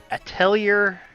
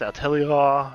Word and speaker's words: Atelier: matter of fact called a tell yer that's how you pronounce that I think it's out telly law yeah French word yeah yeah yeah anyway I'm